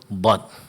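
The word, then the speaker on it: ض: Huruf d makhrajnya min hafatihi keluar dari tepi lidah. Dari tepi lidah. Idzaliya ketika dia bertemu dengan ladrasa. Ketika dia bertemu dan menempel dengan gigi geraham. Maksudnya gigi geraham atas. Min aisaro a yumnaha. Baik itu bagian kirinya ataupun bagian tengahnya. Ini makhraj huruf dhad.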